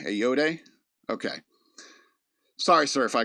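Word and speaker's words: Ayoade: Richard Adoy. Uh you looking him up because I'm lost. Doy. It's a y o a d eode. Okay. A yode.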